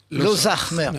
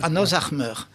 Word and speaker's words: Lozac'hmeur: Ça devrait se prononcer Lozachmeur, Lozachmeur. Ozar, ça veut dire le patriarche, et Meur, le grand.